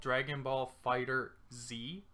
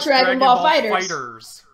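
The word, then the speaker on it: Dragon Ball FighterZ: You know how it looks like it's called Dragon Ball Fighter Z? It's actually not pronounced like that. Yeah, it's called Dragon Ball Fighters.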